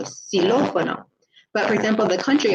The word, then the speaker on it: xilófono: So here, this one is an S sound, so xilófono.